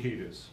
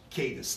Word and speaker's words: Cadiz: Sheriff, the home where I'm going to mispronounce, is it Cadiz? Is that the community? Cadiz. Cadiz.